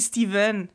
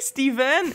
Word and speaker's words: Stephen: Ça se prononce V, mais c'est un PH, OK?